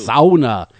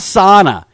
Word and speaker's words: sauna: like the fins do sauna yeah yeah it's not SAA if you say SAA up here they'll flog you so be aware of that if you come up here and say sauna yeah you better start